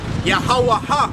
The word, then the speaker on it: Yahweh: This is the reintroduction of the correct pronunciation of the name Yahweh.